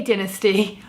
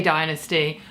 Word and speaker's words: dynasty: have to address pronunciation I say dynasty Americans say dynasty I live in America but I grew up in the UK and I I watched dynasty in the UK so I cannot pronounce it any other way i if I try I could probably for the first minute say dynasty and then I'm gonna be quickly back to dynasty so I'm just gonna stick to the UK pronunciation because otherwise I'll just